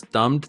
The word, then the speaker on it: dumb: Remember the pronunciation for dumb is without the B. We just say dumb. Don't pronounce the B.